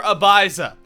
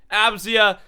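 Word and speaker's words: Abzya: Abzia is the correct way to say it.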